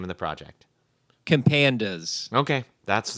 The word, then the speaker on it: Compandas: Compandas.